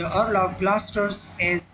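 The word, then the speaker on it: Gloucester: ग्लॉसेस्टर्स जो है ना, यहाँ पर ये जो लिखा गया ग्लॉस्टर्स जो है ना इसको प्रोनाउंस किया जाता है ग्लॉस्टर्स, ठीक है।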